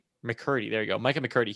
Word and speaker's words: McCurdy: McCurdy.